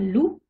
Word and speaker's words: loup: Par exemple, un loup, le P ne se prononce pas.